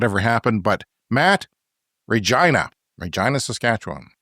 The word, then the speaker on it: Regina: he was confused because it rhymes with a vagina it's Regina it is Latin for